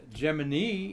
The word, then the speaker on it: Gemini: gemini apollo gallery uh gemini is how nasa said to pronounce it like jiminy cricket back in the day